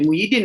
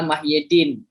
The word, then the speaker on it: Muhyiddin: kirya juga pas ee muhyidin atau mayadin bacanya muhyidin ya pemimpinan sebetulnya secara literalnya adalah mahyidin mahyidin gitu Ya nah tapi terkenal sejak dari muda namanya muhyidin Oke gitu berarti kita Panggil muhyidin berarti ya yang populer aja Yang biar orang